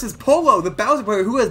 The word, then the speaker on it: Pollo: But it's pronounced Pollo, because different languages, my bad. I keep on pronouncing it Pollo. Sorry. Pollo has one L. That's Pollo, pronounce with a Y.